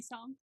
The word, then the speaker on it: Psalm: Did you say pe? Psalm. How are they? Psalms. Psalm. Yeah. Oh, the P is silent.